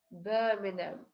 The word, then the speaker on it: Birmingham: Birmingham. Буква G и буква H не дают здесь звуков.